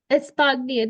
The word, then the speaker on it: Espagne: Espagne. The country name is Espagne. Spain. What you're saying is the language, Espagnol, Spanish language.